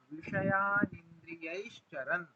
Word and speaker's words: विषयानिन्द्रियैश्चरन्: राग द्वेष वियुक्तैस्तु विषयानिन्द्रियैश्चरन्। विषयानिन्द्रियैश्चरन्, चरण में न जो है वो हलंत है, इसलिए उसको हम हलंत जैसा ही उच्चारण करेंगे, चरण ऐसा।